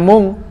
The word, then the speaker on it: Munkar: Hai mungkar Nakir Hai bacanya mung karena Nun di sambut yang Cup mung tapi tulisannya Munkar Nakir Nah itulah melekat Hai